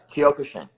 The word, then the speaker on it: Kyokushin: how to say it correctly, you probably do, Kyokushin? Yeah, Kyokushin.